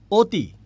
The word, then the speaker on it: অতি: বলি অতি সুন্দর লাগছে আমি লিখছি অ কিন্তু উচ্চারণ করছি উচ্চারণ করছি ও দিয়ে আমি বলছি তোমাকে অতি সুন্দর লাগছে ও বলছি তাই না আমি সুন্দর করে